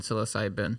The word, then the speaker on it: psilocybin: no there's no i think you're wrong it's syllable and psilocide it's p but it's just closer to the end psilocybin yes so it actually can actually help people